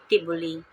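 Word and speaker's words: T'boli: partner for marriage the next is the tioli pronounced tioli of Mindanao people live in the southern part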